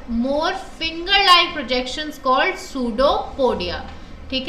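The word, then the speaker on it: pseudopodia: क्या इन्हें हम कहेंगे जस्ट लाइक ऐसोफागस जहां पे ओ साइलेंट था यहां पे पी साइलेंट है सो वे बिल कल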